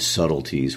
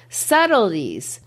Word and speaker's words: subtleties: that's a great example subtleties if you look at how it's spelled it almost looks like it should rhyme with lies so you could say subtle ties you know but it doesn't it only half fits